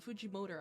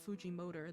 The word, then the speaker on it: Fujimoto: of Fujimoto like Fuji Fujimoto. I'm so used to saying Fuji motor that I just cannot say his name properly anymore.